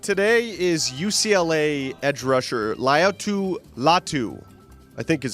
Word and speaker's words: Laiatu Latu: we're looking at today is UCLA edge rusher Laiatu Latu, I think is how you say it. That's better than I did, that's for sure. The keyword is Latu, Latu.